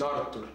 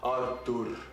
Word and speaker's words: Artur: hello my friends my name is Arthur not Arthur not Arthur arur and if you can